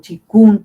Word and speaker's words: Qigong: Y en este caso vamos a hablar del Qigong, o Qigong también, se pronuncia así.